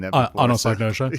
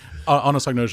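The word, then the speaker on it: anosognosia: word I didn't quite uh I hadn't seen Anosnosia. Yeah, thank you for pronouncing it. Yeah, anosagnosia is the symptomatic loss of insight.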